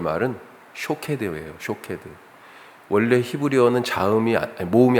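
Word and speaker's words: שֹׁקֵד: 살구나무가 발음이 비슷하다. 그렇죠? 예. 살구나무가 샤케드라고 하는 단어예요. 샤케드. 그런데 지키다라고 하는 이 말은 쇼케드예요.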